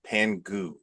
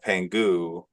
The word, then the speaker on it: Pangu: uh and uh a pangu is the two eyes of pangu it's p a n g guu but it's pronounced oo okay um you also